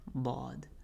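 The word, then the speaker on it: ض: I think it's up there with ra for myself personally, but dad comes from the upturned back edge of the tongue.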